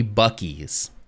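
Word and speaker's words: Buc-ee's: e Dash e e it's supposed to be bies but that sure does look like bues to me um but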